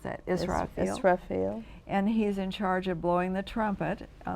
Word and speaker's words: Israfil: You'll have to pronounce that, Israfil.